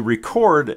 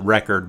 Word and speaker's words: record: people would prefer to record the item description so that's why it automatically jumps to that one and it pronounces it record but it's record so I'm just gonna